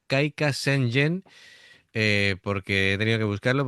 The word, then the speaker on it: Kaika Sengen: La traducción de este tema, bueno, mejor dicho, ¿cómo se pronunciaría? Sería Kaika Senjen, porque he tenido que buscarlo porque los caracteres así japoneses como que yo no los domino.